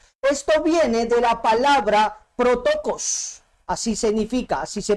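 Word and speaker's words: πρωτότοκος: Esto viene de la palabra protokos, así significa, así se pronuncia.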